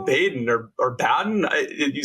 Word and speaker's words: Baden: out there it is we say Baden if you say benen or Baden no harm no